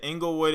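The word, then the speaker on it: Inglewood: know what that is Englewood is like a neighborhood and they say at least in California I know English is but it's not spelled E and G eliwood it's actually spelled with the I so Englewood is located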